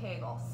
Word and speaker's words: Kegel: I learned recently that Kegel rhymes with bagel so I always said Kegel but it's actually kegels so with that exercise